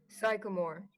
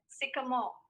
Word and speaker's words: sycamore: greek meaning fig mulberry psychomore that is the wrong answer the right pronunciation would be sycamore i'll i will spell